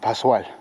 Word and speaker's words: Pascal: If you see an S and a C, it's just like a super S, Pascal.